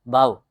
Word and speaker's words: भाव: Next क्या है, द्वैध भाव, द्विवेद, द्विवेद, द्विवेद मीन्स ड्यूल, द्वैध भाव, BHAVA, भाव, ए साइलेंट रहता है मोस्टली, आपने देखा है जो एंशियंट टर्मिनोलॉजी है उनमें ए मोस्टली साइलेंट रहता है।